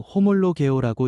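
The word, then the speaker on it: ὁμολογέω: 시인은 헬라어로 호몰로 개오라고 읽습니다.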